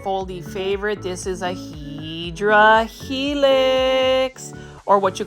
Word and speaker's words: Hedera helix: This is a Hedera helix, or what you call a Hedera helix.